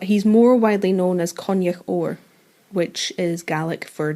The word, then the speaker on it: Coinneach: Coinneach.